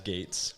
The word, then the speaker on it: Gaetes: Well, it's said as Gates, but there's a couple extra E's in there. And then people, it's like they're trying to pronounce every single letter in my name.